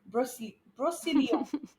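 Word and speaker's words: Brocéliande: Brocelion. Brocelion. I hope I'm So saying that is it right. like the Brosseland Forest? It is that, but French Okay. pronounced.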